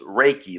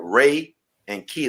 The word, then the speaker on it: Reiki: work on it right so like ray and key like reiki reiki all right yeah yeah